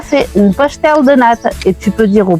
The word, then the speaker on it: pastel de nata: Comment on les prononce ici? Pastel de nata. Tout à fait, pastel de nata.